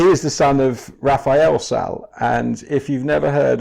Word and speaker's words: Salles: Am I pronouncing Salles right? I've always said Salles. Salles.